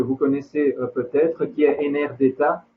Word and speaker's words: Enerdata: connaissez peut-être, qui est Enerdata, on va dire, prononcé à la française, qui est une banque de données construite par l'AIE.